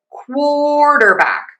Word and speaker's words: quarterback: Let's try this with quarterback.